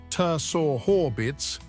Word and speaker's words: Saharbits: According to their oral tradition, a giant named Saharbits, pronounced roughly Ter-Sor-Horbits, lived somewhere within its walls.